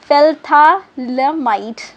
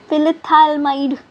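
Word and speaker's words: phthalimide: Heating क्या fill था, इसको प्रोनाउंस कैसे किया, PHTHA फिल्थालमाइड, ठीक है। आपकी प्रोनाउंसिएशन ख़राब नहीं होनी चाहिए। फिल्थाएमाइड, ठीक है, एलमाइड, ठीक है, फिल्थाएलमाइड, ठीक है।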